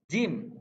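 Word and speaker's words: ج: Jim dibaca jelas. I-nya harus dibuka lebar.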